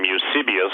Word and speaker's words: Eusebius: used to be usable some people pronounce some Eusebius but I just call him you suppose I was reading prep